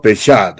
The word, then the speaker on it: Peshat: Peshat, así más o menos se pronuncia.